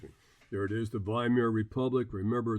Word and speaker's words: Weimar: We also talked about, excuse me, there it is, the Weimar Republic. Remember, the W is pronounced like a V, a very politically weak democratic experiment, which just basically fell on its face.